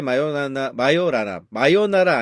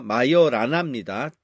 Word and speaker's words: 마요라나: 이 자신이 곧 반입자인데 여기 있는 에토레 마요나라 아닙니다. 마요라나입니다. 잘못 발음하시는 분들이 많아갖고 예 이분이 그 이탈리아의 이제 이론 물리학자죠.